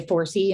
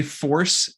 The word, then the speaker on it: FoRSE: uh project is is do you pronounce it 4c usually people say force but i've heard people say 4c and and that's not there's nothing right so let's say force it's an addiction treatment